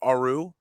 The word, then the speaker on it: Aru: And now, do you pronounce it Aru? Perfect. Aru.